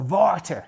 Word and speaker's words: water: Or water, as they say in Dutch, which I don't think is very imaginative, just to spell it the same, but sound it with a V.